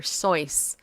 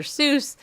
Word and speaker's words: Seuss: can get away with saying wrong like doctor sois I suppose doctor sois is really how you pronounce dr. Seuss's name but everybody always pronounce it dr. Seuss and if I was dr.